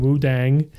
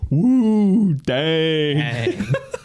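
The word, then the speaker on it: Wudang: in Kung Fu and Wu Dang. And there's no mention of that ever in the rest of the episode. You pronounced it wrong. It's woo dang.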